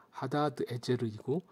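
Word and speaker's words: הדדעזר: 아지르랑 하단 에셀이 동일인일까요 하다데스를 제대로 된 발음은 하다드 에제르이고 하다드는 에도미니 섬기는 신의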